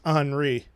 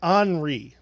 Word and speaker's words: Henri: the show it is it is spelled h-e-n-r-i and it is uh anri huh i had no